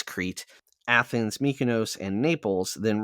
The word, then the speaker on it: Crete: Oh, I can never pronounce Shania? this. Crete. It's Crete.